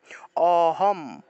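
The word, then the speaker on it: অহম্: করতে হবে অর্থাৎ হম অহম অহম একটা হলো অহম প্রথমটা হলো অহম দ্বিতীয়টা হলো অহম অহম কারণ হসন্ত আছে হসন্ত থাকলে ম এর উচ্চারণটা পূর্ণ হবে না এটা অর্ধেক উচ্চারণ হবে তাহলে অহম এইভাবে 31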